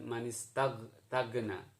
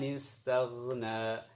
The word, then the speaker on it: istaghna: bahasa kita, tapi dilemeskan, bukan G tapi gha. Manis, bukan manistagna. Manistagna. Amma manistagna, itu yang salah. Jadi tidak G murni, tapi mirip G atau dekat sekali dengan pengucapan G untuk ghain dalam bahasa Arab.